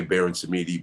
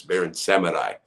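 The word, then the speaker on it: Baron Samedi: in the in the some people say baron samidi but it's barren seminai and that's the guy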